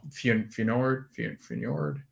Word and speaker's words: Feyenoord: No, Feyenoord.